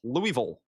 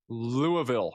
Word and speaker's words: Louisville: Louisville. Louisville, Kentucky. How do you pronounce Louisville? Can you say it for me? Say it almost in one soft syllable. And the part is very subtle. Louisville.